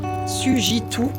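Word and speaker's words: Sugiton: Sujitou, pardon, je le prononce bien, qui est à Marseille.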